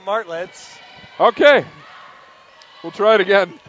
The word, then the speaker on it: Martlets: Marlettes? Well, correct some pronunciation. It's the McGill Martlets.